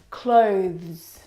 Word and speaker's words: clothes: one is especially difficult clothes clothes clothes now the reason why it's especially difficult is because of the two final consonant sounds the th and the plural sound now this noun is